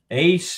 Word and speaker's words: Achane: Achane is what they're saying is the pronunciation.